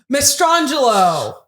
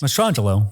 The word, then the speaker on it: Mastrangelo: Mastrangelo. Did I say it right? Yes. Okay, he's going to say yes no matter what. I want to make sure I got his name correct. Mastrangelo.